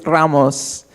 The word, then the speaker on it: Ramos: I get in trouble from my mom because I don't even pronounce it correctly, but it's Ramos with the rolled R, but it's a Ramos.